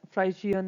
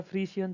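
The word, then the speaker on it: Friesian: Indian काऊ के साथ हॉलस्टाइन फ्राइशियन या फ्रीशियन जैसे भी आप प्रोनाउंस करेंगे वो रहेगा।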